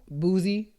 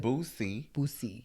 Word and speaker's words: Bussy: But yo, did you see the tea with Boozy? With Bussy.